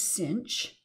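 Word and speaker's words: sinh: we just need to know the definition of cinch and kosh and that's how you pronounce these two functions this is kosh and this is cinch and the other hyperbolic functions are defined in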